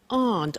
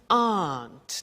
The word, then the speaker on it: aren't: So the difficulty here is the pronunciation of are not, which is aren't.